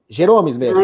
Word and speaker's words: Geromes: É assim que pronuncia teu nome, Jeromes? É Jeromes? Jeromes mesmo, né?